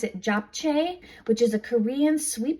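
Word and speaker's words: 잡채: Okay, and then another frozen item that's vegan at Trader Joe's is this, I think you pronounce it Japchae, which is a Korean sweet potato glass noodles and vegetable stir fry.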